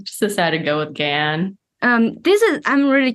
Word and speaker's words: Gan: and then in America I just go by Gan because it rhymes with a tan and it's a similar